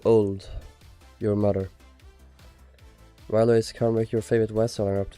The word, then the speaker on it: Cymric: It's pronounced with a soft C.